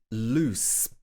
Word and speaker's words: loose: is something loose inside so this one has s at the end and the other one has z at the end this is loose okay number two is